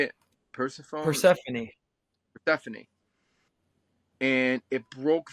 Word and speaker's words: Persephone: Persephone, Persephone.